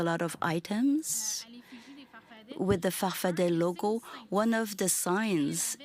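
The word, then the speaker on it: Farfadaa: Your movement, you call it farfada with two A's at the end, but you pronounce it farfadet. Answer, depends on who pronounces it. I've always said I'm a farfadet.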